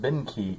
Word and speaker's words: Benkii: I've got a um I assume this is pronounced Behnke it's be en KIII umbrella I did a